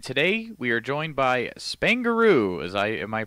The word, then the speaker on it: Spaingaroo: o is that correct Spain added to the word kangaroo all right and uh